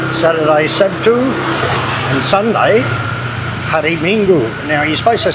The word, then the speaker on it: Minggu: If it's like Minggu, it's M-I-N-G, Ming, G-U-Gu. You pronounce it sort of like two words, Minggu.